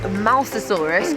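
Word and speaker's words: Mosasaurus: This is the Mousasaurus cuz we now know that we are how to pronounce it correctly.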